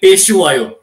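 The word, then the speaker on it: Phehlukwayo: There's a kind of a documentary done, in which he himself calls his name out as Andile Peshuayo.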